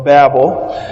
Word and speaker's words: Babel: kids about the famous Tower of Babel, or Babel. Depends on which syllable gets the emphasis, however you pronounce that.